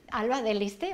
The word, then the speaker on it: Alba de Liste: Alba de Liste, ¿vale?